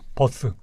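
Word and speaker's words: Buss: 이름 뭐 데비 버스요 데이비 버스 버스 할 때 그 버스입니다 예 아 buus SS요 발음은 똑같습니다 데이비드 대중 교통 예예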